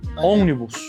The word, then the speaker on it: ônibus: Tem um, tem um, como é que pronuncia? Ônibus. Ônibus. Nossa, ónibus.